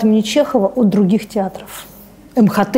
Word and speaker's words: МХТ: Что отличает МХАТ имени Чехова от других театров? МХТ имени Чехова, правильно говорить.